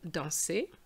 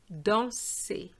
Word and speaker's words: danser: add something like this, which is words ending with ER and EZ. They have the same pronunciation. So, for example, to dance would be danser, even though there's no accent on that E, but ER gives you the same sound.